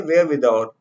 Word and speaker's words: wherewithal: ये जो आर है ना, ये साइलेंट है, तो इसे कहेंगे वेयर विदाउट।